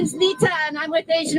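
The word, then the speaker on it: Neeta: name you would like yeah my name is Nita and I'm with the Asian Americans United in Philadelphia how do you spell that n-e-e-t-a thank you so much Nita thank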